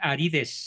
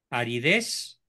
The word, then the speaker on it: aridez: corrijo la ortografía patita no se dice arides se escribe con z arides aridez para que se pronuncie así correctamente a veces hay aridez